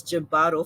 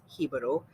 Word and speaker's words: Jibaro: Uncultured people like Sank and I have been mispronouncing it as Jibaro for the past couple of weeks, and we recently learned the correct pronunciation of it, which is Jibaro.